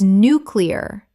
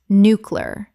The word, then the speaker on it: nuclear: jif gif Word 79 nuclear common mispronunciation nucular correct pronunciation nuclear Three syllables. The word is nuclear, not nucular. A very common error even among native speakers.